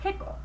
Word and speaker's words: Pickle: pickle actually his name was dr. pickle with the accent on the second syllable Nicole but that wasn't why everyone called him dr.